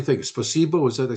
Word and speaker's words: Спасибо: Spasibo, is that, I say the right word? a Спасибо. big placebo, not placebo, but bus.